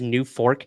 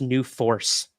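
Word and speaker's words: NUFORC: Robert says it's not pronounced New Fork. It's pronounced New Force.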